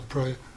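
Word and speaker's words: Pré: um i'm representing the prey farm basically sorry which farm the prey farm ellie pre farm accent on the e the prey um first of all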